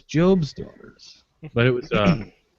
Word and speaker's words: Job's Daughters: But the mispronunciation was awesome when he said Job's daughters. Like the lady immediately like, no, it's Job's daughters.